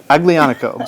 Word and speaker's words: Aglianico: So it's got a hard G in it. A lot of people just presume because it looks like it's of Spanish origin that the G would be an H sound, but Aglianico is the name of the grape.